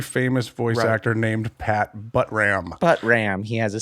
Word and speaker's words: Buttram: voice actor named pat buttram but ram he has a star on hollywood his name is pat buttram yes he's rat how do you spell that uh b-u-t-t-r-a-m just how you say it you know you